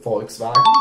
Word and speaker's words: Volkswagen: go for the next one Volkswagen very good Volkswagen yeah yeah okay so people are quite full